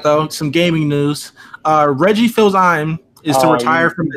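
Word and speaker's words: Fils-Aimé: some gaming news Reggie fils-aime is too entire how do you say it can I go it's French its fees MA there we go alright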